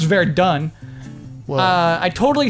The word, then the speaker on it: Verdun: It's pronounced Verdun.